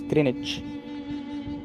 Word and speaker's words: Greenwich: It's Greenwich, not Greenwich. Oh, okay. It's Greenwich. Then the W silent? Yes, W is silent.